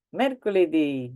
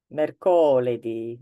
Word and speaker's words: mercoledì: Lunedì, martedì, mercoledì, giovedì, venerdì, they all have an accent on the last E.